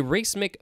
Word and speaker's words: racemic: 1836 a racemic mixture racemic r-a-c-e-m-i-c a race-make mixture of hydrocyanine obtained from